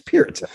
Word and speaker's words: Peart: But it is Peart. It's Peart. But people got it wrong.